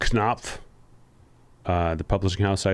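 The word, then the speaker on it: Knopf: to note a lot uh Greg it is pronounced knob uh the Publishing House I assume they're talking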